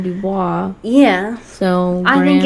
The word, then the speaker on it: Dubois: You don't pronounce the S in Dubois.